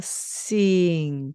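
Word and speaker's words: sing: 다시는 만나서 뭐죠 그렇죠 받침의 이응 그렇습니다 그래서 싱 싱이 되겠습니다 자싱 시작할 때 그냥 싱싱이 아니고요 바람이 슉하고 불면서 싱이 됩니다네 이렇게 발음을 시작해 주셔야 합니다 노래하다라는 바로 동사가 되겠습니다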